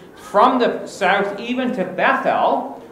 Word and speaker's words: Bethel: the south even to Bethel, or Betel, as it's called in the land, unto the place where his tent had been at the beginning, between Betel and Ai.